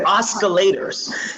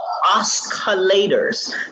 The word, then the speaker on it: oscillator: heard how he said he said oscillators he says oscillators that's not how you say it see that's how we know you're not a technical dude it's oscillating it's silent you know its oscillation oscillator that's I say it really regardless but you